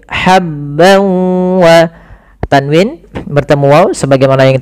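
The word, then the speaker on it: حبا: wa ha ha kecil hati-hati jangan sampai dibaca habbau tapi habb wa tanwin bertemu wau sebagaimana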